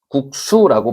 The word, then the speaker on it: 국수: 그래서 국수라고 했을 때 분명히 발음은 수라고 놨지만요 기억 받침 뒤기 때문에 상시옷으로 적지 않고 시옷으로 적어 주는 거죠. 그래서이 발음에는 국수라고 발음이 된 소리로 나지만 표기는 된 소리를 하지 않는다.